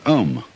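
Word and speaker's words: AUM: mantras is of course the sound ohm that sound is used because if you spell it out a u-m it runs from the back of your throat to your lips and therefore it contains the whole range of the voice and for that reason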